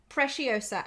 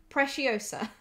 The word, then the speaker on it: Preciosa: who needs swarovski oh preciosa right okay right i've got it now i think preciosa and says s sound not k okay preciosa right we'll move away